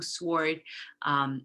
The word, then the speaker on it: sword: And the spelling with a silent W continue to occur in spelling, even though it's not pronounced. So to, sword, etc., answer, etc.